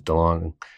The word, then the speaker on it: DeLonge: else breaks just because DeLong is it too longer to launch I say it wrong every episode I hear it differently every time I always say too long okay go on